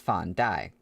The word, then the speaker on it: Fan Dai: The fat monk's name was Fan Dai, pronounced exactly like sack of rice.